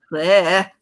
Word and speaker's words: Claire: No, you got to say it like this. Claire.